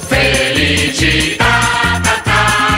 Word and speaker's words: Felicità: Felicità, l'accento sulla A.